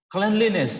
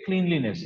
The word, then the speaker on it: cleanliness: Cleanliness, that's how you have to pronounce. Many students mispronounce this word. Okay, cleanliness.